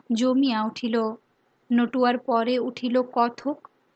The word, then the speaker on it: কথক: নটুয়ার পরে উঠিল কথক। এখানকার উচ্চারণে কত্থক।